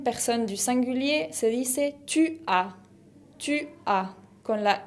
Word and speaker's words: tu as: La deuxième personne du singulier se dice tu as. Tu as, con la S final qui ne se prononce pas. Le S final ne se prononce pas, tu as.